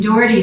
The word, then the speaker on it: Doherty: and by the way my name is Doherty like the county oh you know nobody